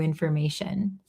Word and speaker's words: information: And when we say information, this O in the middle, it sounds like eer or like nothing here. Infer. Infer. Information. And then t i o n is almost always going to be shin. Shin. Think sh h i n shin information.